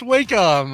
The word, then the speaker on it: Wacom: very popular drawing tablet company i think it's pronounced wacom uh alex it's funny like even his even